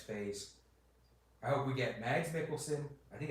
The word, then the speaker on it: Mads Mikkelsen: I hope we get Mads Mikkelsen. I think it's Mads Mikkelsen. I don't think you pronounce the D.